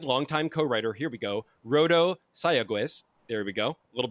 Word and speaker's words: Rodo Sayagues: breathe Fame alongside longtime co-writer here we go rodo sayagues there we go a little bit better I